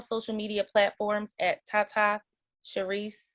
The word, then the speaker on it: Sherise: You guys can keep up with me on all social media platforms at Tata Sherise. It's Tata. Sherise is spelled like she rise.